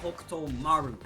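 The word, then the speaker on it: Hokutomaru: or or I don't even know how to pronounce his name, dog. Help me out here. Yo yo yo, it's okay because it's Hokto Maru.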